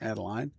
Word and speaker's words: Adeline: Adeline Tracy, and hopefully your coach told me that was the correct pronunciation, Adeline.